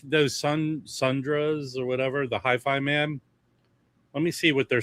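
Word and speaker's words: HIFIMAN: It's Hi-Fi Man, not Hi-Fiman.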